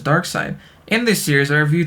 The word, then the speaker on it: Darkseid: series I'll be covering Thanos versus Darkseid (pronounced "Dark Side").